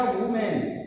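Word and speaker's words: women: यहाँ पर शब्द के उच्चारण पर जैसे कह दिया वुमेन, इसको हम बोलते हैं वुमेन और इसको बोलते हैं वीमेन। तो यहाँ सिखाया जाता है, देखो ए और ई, लेकिन उच्चारण कहाँ हो रहा है यहाँ वुमेन वीमेन।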